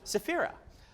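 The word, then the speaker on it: Saphira: names and ancient magical words come anyone yeah safira how do you say C uh Shan Chan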